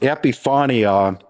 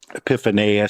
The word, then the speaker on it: epiphania: And epiphania, epiphania, some people, depends on which syllable put the emphasis on and so forth, but epiphania is a real common way to say it.